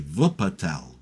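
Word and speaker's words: Wuppertal: I think it was a place called Wupatel. Spelled with a W. Vupatel.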